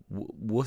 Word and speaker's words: Worcester: Worcester sauce. W wor sauce.